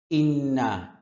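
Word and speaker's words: إِنَّا: কলু ইন্না তাতাইয়ারনা ইন্না হামজার উচ্চারণ স্পষ্ট করতে হবে এখানে একটা গুন্না আছে ইন্না এক আলিফ টানা আছে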